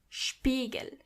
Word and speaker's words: Spiegel: When you see an S before a P, you have to automatically pronounce the S as sh, even if there is no C or H. The S is pronounced as sh as long as there is a P after it.